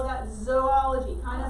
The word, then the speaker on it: zoology: right we call that zoology kind of like it has the word remember jaden raise your hand okay but remember it sounds kind of like you're saying zoo so animals live in